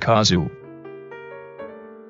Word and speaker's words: Kozu: it is a mistranslation the kanji is correctly pronounced kazu there are very few places on the coast